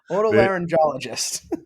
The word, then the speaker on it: otolaryngologist: ENT and a laryn how do you say it laryn no not like that uh Auto laryngologist there you go there you go yeah